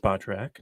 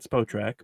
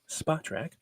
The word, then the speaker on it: Spotrac: But recently, Spotrac, which I just learned is pronounced Spotrac, not Spotrac, because I looked it up on their official podcast. It is Spotrac.